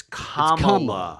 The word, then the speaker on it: Kamala: Except he's racist because he can't pronounce her name right. It's Kamala. It's Kamala. Yeah. It's Kamala.